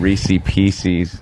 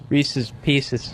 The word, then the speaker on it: Reese's Pieces: Yeah, you said Reese Pieces. It was Reese's Pieces.